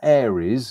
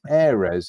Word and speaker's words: Ares: Now we've also got some releases coming up from Ares, not Aries as some people pronounce it. It's Ares. If you look at the name, it's pretty much kind of like shortened for air resin.